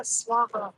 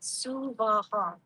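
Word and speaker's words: Svaha: Normally, people will pronounce Gayatri Om Bhurabhuva Swaha or Swaha. Yeah, don't do that. Suvaha, 3 separate and equal syllables.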